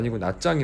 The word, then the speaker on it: Nha Trang: Tenho de pronunciar " Nha Trang " como " Nya Jjang ", não " trang Não?